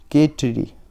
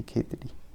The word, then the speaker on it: खेतड़ी: इसका उत्तर है खेचड़ी, खेचड़ी, खेचड़ी जो भी कहते हैं, खेचड़ी, ठीक है। मेरी प्रोनाउंसिएशन थोड़ी गड़बड़ है, खेतड़ी, खेतड़ी, हाँ सही, खेतड़ी।